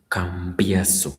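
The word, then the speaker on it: Cambiaso: Campaso. Let me spell it properly the way it should be.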